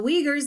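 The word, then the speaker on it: Uyghur: people called the leaguers it's spelled kind of different it's uig hur Essen definitely a different way of saying it so the we Gers live in the northern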